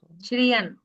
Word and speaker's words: श्रियं: ये थोड़ा इसको श्रियन न जैसा लेंगे श्रियन साउंड। नौ जैसा श्रियं लेंगे, ठीक है। जगद्धुरन्धरः। श्रियन जगद्दुरंधरा, ठीक है।